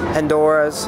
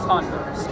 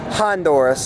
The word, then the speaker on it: Honduras: Mexico, Belize, and Honduras, and well, I hope to come back one day. Anything you guys want to say for the ending? It's pronounced Honduras. Honduras, sorry.